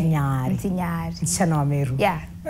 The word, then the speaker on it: Ntinyari: Because that's how you pronounce Ntinyari. Ntinyari.